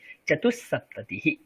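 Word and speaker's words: चतुःसप्ततिः: না না না না, দেখুন বিসর্গ আছে, তো বিসর্গের পর যদি দন্তেস্ব থাকে তাহলে বিসর্গের উচ্চারণ দন্তেস্ব হয়ে যাবে। চতু আছে বিসর্গ, তারপরে দন্তেস্ব আছে, তাহলে বিসর্গের পরে দন্তেস্ব আছে, মানে বিসর্গের উচ্চারণ দন্তেস্বের মতোই হয়ে যাবে।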